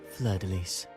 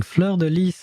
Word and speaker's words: fleur-de-lis: if you have to, because it's actually a French word. It's actually multiple words. It's fleur, then then lys.